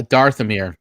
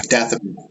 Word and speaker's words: Dathomir: Yeah, Darthamir, or Dathomir. How do you say it, Ken? Yeah, Dathomir.